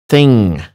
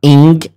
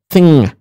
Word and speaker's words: thing: to say it um we say it like thing something it's not ink that's completely different sound sonically speaking it's thing so it's not stressed G and it's not just light and or n so it's thing it's